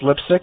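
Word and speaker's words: Leipsic: Pronounced Lipsick, yep. Okay, got that right.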